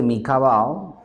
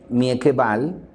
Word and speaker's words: Mieke Bal: El texto de Mika Bao. De hecho, Mika Bao es Mieke. Se escribe Mieke con K. Es el nombre, el apellido es B-A-L. Mieke Bal.